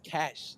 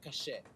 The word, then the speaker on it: cache: So pronounce it as cash, not cachet.